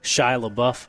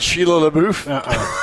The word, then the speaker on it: Shia LaBeouf: Shia LaBeouf, I believe that's how you pronounce it. It's not Sheila LaBeouf?